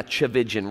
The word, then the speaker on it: Tchividjian: But yeah, Tchividjian rhymes with religion.